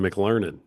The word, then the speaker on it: McLernon: And it's basically phonetic, right?